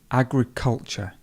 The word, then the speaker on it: agriculture: Agriculture. Agriculture. So the stress would be here, which makes the word, the vowel pronounced.